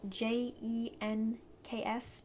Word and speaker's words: Jenks: i'm saying that the way it would be pronounced j e n k s jenks and i think he's awesome for those